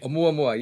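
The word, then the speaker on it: ʻOumuamua: Oumuamua, am I pronouncing it correctly? Oumuamua, yes, it's a scout in the Hawaiian language.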